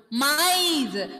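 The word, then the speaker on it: maïs: Mice. Should those two vowel letters should be clearly audible separately.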